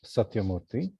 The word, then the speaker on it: Satyamurthy: from sure hi david i'm satyamurthy satyamurthy and everyone in my family calls me